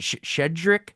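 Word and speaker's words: Щедрик: I don't even know how you pronounce it. Shedrik, Yes.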